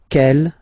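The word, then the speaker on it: quelle: that q l l but it's pronounced like the masculine form Kell at the masculine Kell at the feminine okay so it's basically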